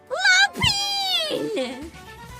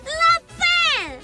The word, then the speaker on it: La Pen: It's not Lapine! La Pen! La Pen!